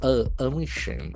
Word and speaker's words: omission: But we can see that the letter O has got sound. Emission. A omission. Emission. There are three syllables. And the accent for the second syllable.